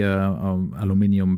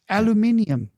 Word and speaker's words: aluminium: Fun fact, aluminium versus aluminum. Do you know where the nomenclature of this came from? Why the Americans and why the British say this differently? That the world says aluminium, even in Germany. I think there is only one country that says aluminum, which is the United States.